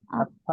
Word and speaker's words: 아빠: আপ্পা আপা, আপ্পা।